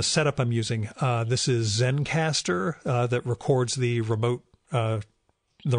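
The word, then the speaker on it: Zencastr: I'm using this is Zen caster that records the remote the remote episodes it's spelled ze and CAS TR so it's missing the final e Zen caster is there's a hobby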